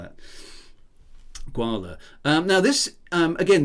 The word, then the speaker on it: Gwahlur: doesn't look Welsh um should we go for gwala guala as as sort of rhymes with koala will I do let's